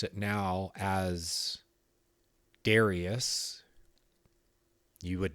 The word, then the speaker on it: Darius: me in my dream darus which is the persian way of saying the persian way of saying it 2 500 years ago that's what started me